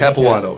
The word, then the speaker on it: Capuano: Capuano, am I saying it correctly? Caps, yeah, Capuano, Caps.